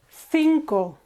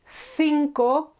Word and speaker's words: cinco: 5, cinco. TH here, cinco, or if you're in South Latin America or you want to sound like them, cinco, just a normal S.